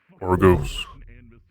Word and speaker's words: Argos: Argos.